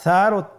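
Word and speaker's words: ثاء: আবার বলুন সা হরফটি বারিক মানে পাতলা করে উচ্চারণ করতে হবে। তাহলে আমরা এখন সায়ের মাখরাজ লক্ষ্য করি। সায়ের মাখরাজ কোন জায়গা থেকে? স্ক্রিনে দেখা যাচ্ছে। সা হরফটির মাখরাজ হলো উচ্চারণ স্থান জিহ্বার আগা সামনের উপরের 2 দাঁতের আগার সঙ্গে লাগিয়ে উচ্চারিত হয়।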